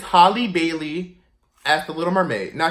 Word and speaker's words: Halle Bailey: For my first unpopular opinion, I have said her name wrong. It's it's Halle Bailey as the Little Mermaid.